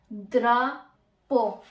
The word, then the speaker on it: drapeau: तो मैं यहाँ पे लिख सकती हूँ ल द्रा पो। हमने पढ़ा ना कि ई ए यू की जो प्रोनाउंसिएशन है वो होगी ओ।